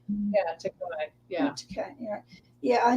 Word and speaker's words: Takei: And George Takei. A lot of people say George Takei. And Marina Sirtis instead of Sirtis. Takai. Yeah, Takei.